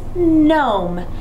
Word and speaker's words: gnome: and gnome um gnome gnome has the GN silent Digraph at the beginning of the word oh